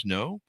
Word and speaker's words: SNO: It's called The Image: A Quantum Portal Has Open, part of the SN O Chronicles, pronounced Snow.